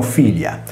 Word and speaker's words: filia: Prendiamo ad esempio il sostantivo figlia, scritto in latino filia. Qui la prima I, su cui cade l'accento, è una vocale, poiché si lega solo alla consonante iniziale F.